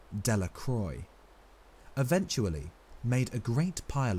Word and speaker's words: Delacroix: and Harry Jones and Dicky delaqua the villagers pronounced the name delacroix eventually made a great